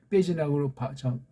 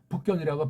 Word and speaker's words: 북경: 그 당시 저쪽 뭐 베이징도 그렇지만 북경도 그렇지만 베이징이라고 발음하면 안 돼요. 북경이라고 반드시 하라고 아까 제가 말씀드렸습니다.